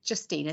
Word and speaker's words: Justina: Okay, so my name is Justina, so pronounced with a J, but no offense, Chloe, I'm fine with that.